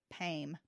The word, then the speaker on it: Pame: Well, she spelled her name Pame, P-A-M-E, but you pronounced it Pam. The E was silent.